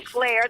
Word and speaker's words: Schleyer: Okay, so this is Linda Schleyer. That's how it's pronounced.